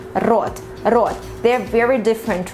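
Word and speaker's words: рот: Most probably right now you're pronouncing this word as rot, rot, because it's not so easy for you to pronounce the Russian r, which is really very harsh and tough, rot.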